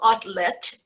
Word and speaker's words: Otlet: had been available paul outlet and i'm giving you here he's belgian so i'm giving you the belgian pronunciation rather than the french to do this politically